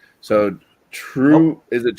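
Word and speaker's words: TRVE: So, True, is it True? True or True? Yeah. They pronounce V's as the letter U in Scandinavia.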